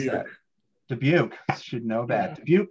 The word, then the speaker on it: Dubuque: How do you pronounce Dubuque. That? Dubuque, should know that.